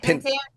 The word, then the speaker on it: Pentangeli: Pentangeli. Say it right. Pentangeli. There you go.